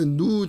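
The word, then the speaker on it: ν: 1 x의 제곱 마이너스 누 제곱 이렇게 되어 있죠. 여기서는 이런 거는 그릭이고요. 그리스 알파벳이고 누라고 읽어요.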